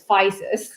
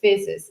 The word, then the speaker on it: Physis: It can be pronounced both ways. Like Americans like to pronounce Physis. but the original, it's like espresso and espresso, right?